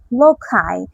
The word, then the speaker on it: loci: জানি না এটার উচ্চারণটা কেমন হবে। LOCI, লোকাই, লোকাই, লোকাই।